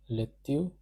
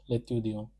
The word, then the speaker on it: l'étudiant: This is pronounced as l'étudiant. Because of the liaison rule, this L will get connected over here as with the C. Therefore, it will be pronounced as l'étudiant.